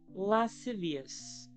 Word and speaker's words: lascivious: How the freak do you pronounce that? Lascivious. That's lascivious.